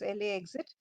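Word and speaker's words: LAX-it: new amenities at LAX is lacks it pronounces le exit it's the new way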